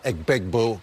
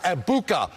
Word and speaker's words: Egbuka: Emeka Egbegboo going for over 100 yards. Emeka Egbuka.